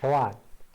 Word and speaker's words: Toàn: uses in Canada, but his actual name is Toan. Am I pronouncing that right now? Very, yeah, it's good. Don't Okay, worry. Toan.